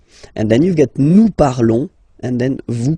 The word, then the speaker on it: parlons: Okay, nous parlons. Okay, remember final s is not pronounced. Okay, and then this on together, they will give you the sound on.